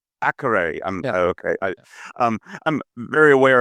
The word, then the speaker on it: Akureyri: Remind me how to pronounce it. I don't want to butcher it. University of Akureyri. Akureyri.